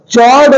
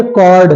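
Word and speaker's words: chord: चॉर्ड नहीं है, चॉर्ड नहीं है, कॉर्ड है, कॉर्ड। चॉर्ड नहीं, एच साइलेंट है।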